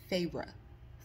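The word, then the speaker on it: Feyre: of M and fury for the pronunciation of her name it's farra F 19 now and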